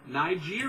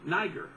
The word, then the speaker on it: Niger: And here's a guy in the Bible, Simon the Niger. Now they pronounce it Ni, with an I or a different I sound.